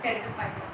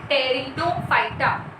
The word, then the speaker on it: Pteridophyta: So let's start with Pteridophyta. Our division 3. Pronunciation matters here. P silent है. Pteridophyta. पर टेरिनो नहीं बोलना है, प नहीं है, P silent है. Pteridophyta.